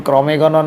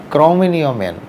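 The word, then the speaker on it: Cro-Magnon: বিজ্ঞানীরা তাদের ক্রমমেনিয় ক্রমেও ইংরেজিতে অনেকেই ভুল করে উচ্চারণ করেন ক্রমেগণন ম্যান ক্রমেগণন ইংলিশ বানানে লেখা হলেও যেহেতু জায়গাটার ফ্রান্সে আবার যেই ফ্রান্সের ক্রমেয় ফ্রান্সের ক্রমে কমেনিয় শহরে এই কঙ্কাল পাওয়া গেছিল বলে ফ্রান্স ফ্রান্স উচ্চারণ রীতি অনুসারে ক্রমেও মেন কিন্তু ইংলিশ বানানী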